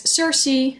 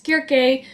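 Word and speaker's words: Circe: of all I've heard people in English mostly pronouncing this as Cersei but back when I had Letson and Greek in high school I was told it's pronounced as jerky so I'm going to do dead like pronounce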